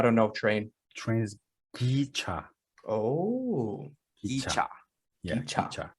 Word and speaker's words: 기차: Train is gicha.